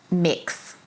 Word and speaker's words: Mx: How do you pronounce that? Mix.